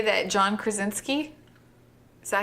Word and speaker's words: Krasinski: But I can say that John Krasinski, is that how you say it?